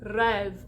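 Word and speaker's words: rêve: talking about sung french so when you see this little hat over the top of an e or an o the o it closes the e it opens so think about words like rev or tet you got that little circumflex over the top and it opens it up to that epsilon sound that open e like head or bed and if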